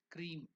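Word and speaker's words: Kreem: more feminine aspect of cream there is another beam manra k r e e m cream so as cream is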